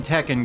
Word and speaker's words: Tekken: The emphasis in Tekken goes on the second syllable.